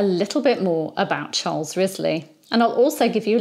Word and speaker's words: Wriothesley: And by the way, his surname is spelt Wriothesley, starting with a W, but it's pronounced as Wriothesley or Wriothesley.